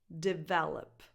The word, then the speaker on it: develop: The stress is on the second syllable. Develop. That's the strongest syllable. Develop. So the other 2 vowels, the first and the third one, are just schwas. Develop. So no definition in the first and the third syllable, just on the second one.